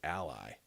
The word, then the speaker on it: Ally: he needed I mean another way to pronounce her name is a lie it's even spelled the same al ly she was there she